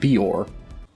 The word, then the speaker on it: Beor: Heck, in the book, though not in this film, Murtaugh has a very strong accent, but even he correctly pronounces it Beor.